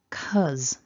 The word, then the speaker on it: cousin: make a mistake the pronunciation of this vowel is uh and then we've got the voiced as so syllable one repeat after me cuz cuz now the mistake that people make we'll come back to this at the end when we look at the orthographic script but basically when we write the word we write two vowels but here we just see the one short vowel sound so that's a mistake